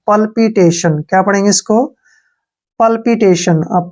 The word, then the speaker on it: PALPITATION: टी ए का उच्चारण हम टे के रूप में करते हैं, और टी आई ओ का उच्चारण हम शय के रूप में करते हैं, और एन का उच्चारण न करते हैं।